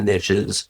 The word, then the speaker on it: niches: Because the riches are in the niches, and the only time you pronounce it like that is when you rhyme it with riches.